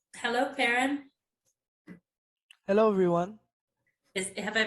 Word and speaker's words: Perrin: Hello, Perrin. Hello, everyone. Have I pronounced your name correctly?